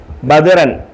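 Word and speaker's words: بَدْرًا: ബദറൻ speed speed വായിക്കണം ബദറൻ ബദറൻ ബദറൻ ബദറൻ ബദറൻ ബദറൻ അലിഫ് ഇല്ലെങ്കിലും ബദറൻ വായിക്കും അലിഫ് ഉണ്ടെങ്കിലും ബദറൻ വായിക്കും അലിഫ് ഇല്ലെങ്കിലും ബദറന് വായിക്കും ബദറൻ അലിഫ് ഉണ്ടെങ്കിലും ബദറൻ വായിക്കും അപ്പോ ഈ അലിഫിന് ഈ അലിഫിന് ഉച്ചാരണമില്ല ഈ അലിഫിനെ വായിക്കത്തില്ല പറയത്തില്ല ഉച്ചരിക്കത്തില്ല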